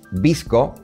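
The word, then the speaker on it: VSCO: la palabra clave filtros visco es difícil de parece simple de pronunciar pero se escribe psc o no no tiene no tiene una vocal en el medio y una particularidad que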